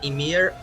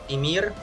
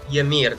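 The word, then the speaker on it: Ymir: way for all of you guys wondering it's pronounced imir imir but not yamir there is no a but yeah commonly to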